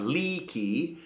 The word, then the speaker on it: liki: problems with pronunciation sometimes you got to make all of your eyes into a long e sound leaky and your e into an eh sound Ley so Ley is to